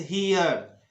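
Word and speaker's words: here: जब ई के बाद आर लगा हो और उसके बाद फिर ई आता हो, यानी ई और उसके बाद आर और फिर से ई आ जाता हो, तो ऐसी स्थिति में ई का उच्चारण होता है। जैसे हियर हियर स्फीयर कोहियर कोहियर और एटमॉस्फियर, तो ये वाली उच्चारण होना चाहिए।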